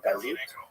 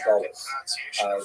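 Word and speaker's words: גלות: but the word exile, in Hebrew, galut, or in a Ashkenazi pronunciation, Gullus, that Jews were thrown out of their land.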